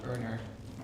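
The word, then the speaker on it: Earnr: And I'm one of the co-founders of a company called Earner. You spell it slightly differently, so E-A-R-N-R.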